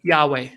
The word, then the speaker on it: Yahweh: then have this word yhw H which is Yahweh is the way most scholars will pronounce it we actually don't know